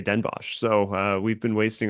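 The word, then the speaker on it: Den Bosch: from a source that everybody over there refers to it as Den BOS oh come on I can't really I just learn how to pronounce her talking after and this this happened last year too we were like struggling over the name so much particularly you I I was struggling yeah that's right I was strugging yeah uh apparently everybody all the Dutch they just say denbosch so uh We've been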